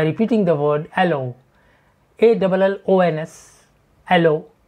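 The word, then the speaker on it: allons: the word allo, A-L-L-O-N-S, allo, French word pronounced as allo, meaning we go or let's go.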